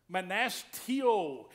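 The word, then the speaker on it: μνηστεύω: Manastio is the way you pronounce that Greek word.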